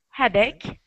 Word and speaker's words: headache: Now, remember, that CH sounds like a K. K, okay. Ick, backache. Headache, and toothache.